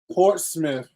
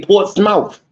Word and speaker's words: Portsmouth: Portsmouth. There's no ITH in that. I keep telling y'all this. I tell the people at my job every day, Portsmouth.